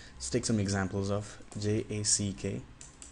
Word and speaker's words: Jack: sound is basically different when you say J you stop the air with your tongue in the middle before letting it out you stop in the